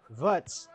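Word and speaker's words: Wirtz: pulling in players Florian vets I'm pretty sure he's German and I know that W is pronounced as a v beautiful player with great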